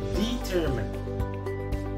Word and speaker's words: determine: What we are supposed to pronounce this word? Determine, determine.